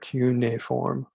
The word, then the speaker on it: cuneiform: uh sumerian uniform writing that's how you pronounce that not cuneiform but q na form writing and i'll show